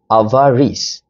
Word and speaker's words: avarice: So the right pronunciation of these word is avarice uh which is a noun meaning a great excessive love of riches.